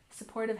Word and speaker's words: supportive: Supportive has stress on the second syllable.